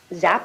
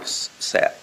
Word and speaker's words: Sapp: Zapp? Sapp.